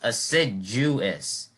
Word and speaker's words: assiduous: This word is pronounced assiduous. So this J sound is spelled as a D here, even though that sounds somewhat counterintuitive.